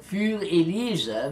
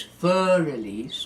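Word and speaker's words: Für Elise: German or it is a bet and so fuel ELISA means for Eliza so a lot of people mispronounce this as you know as Fur Elise oh it's not thoroughly it's fuel it is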